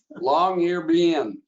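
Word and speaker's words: Longyearbyen: Norway all the way to the Red Dot long ear bin did I pronounce that right Lynette you got it right long air being to be in and that's the airport there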